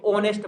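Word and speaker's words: honest: है यह पॉइंट में साइलेंट लैटर है एस एच है ना इसको होने से नहीं पढ़ा जाता है इसको ऑनेस्ट पढ़ा जाता है वंश तो एच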